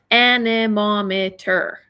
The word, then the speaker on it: anemometer: Okay, anemometer. Lots of syllables in that one, okay?